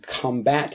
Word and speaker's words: combat: have to combat this combat. There are two pronunciations of this word, Combat is like the noun form of it, where you're talking about battling things, and the verb form is to combat something.